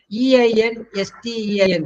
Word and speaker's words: Einstein: It's the name of a famous scientist. Einstein. Oh, Ah, Einstein. yes, it is Einstein. Einstein. Both Ein. Please don't forget that. But I have heard many saying Einstein.